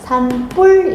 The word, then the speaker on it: 산불: 자, 이걸 발음 우리는 어떻게 하냐면 산뿔 이렇게 하잖아요. 산뿔 이렇게. 근데 한 단어 한 단어가 더해졌어. 그지? 더해졌는데 뒤에 있는 예사 소리가 된 소리로 발음이 났어.